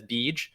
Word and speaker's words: Beej: So he likes to go by BG, and we pronounce that as Beej.